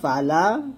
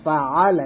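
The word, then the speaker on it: فعل: তো যেমন একটা ভুল হচ্ছে আলাম তারা কাইফা ফালা, এখানে ফালা বলি, ফালা না, এটা ফাআলা। এই যে এখানে যে আইনের উচ্চারণটা, আমরা এখানে আইনের উচ্চারণটা নিয়ে আসি না, এভাবে বলি আলাম তারা কাইফা ফালা রব্বুকা, ফালা বলি, ফাআলা বলি না।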